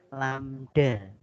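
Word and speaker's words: lambda: Neng tahu Hai amda iya lamda bacanya lamda betul dari huruf a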